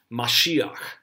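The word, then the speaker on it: משיח: term which is Messiah Jews would have pronounce this mashiach so when we talk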